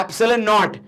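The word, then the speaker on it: epsilon naught: एप्सिलॉन से इसको pronounce करते हैं एप्सिलॉन नॉट।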